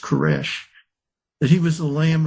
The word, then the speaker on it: Koresh: Cyrus in Hebrew is pronounced Koresh.